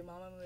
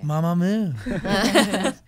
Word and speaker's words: MAMAMOO: 그 발음이 맞는지 마마무가 맞는지. 편하게 해달라고. Just say comfortably. Mamamoo is fine. Mamamoo.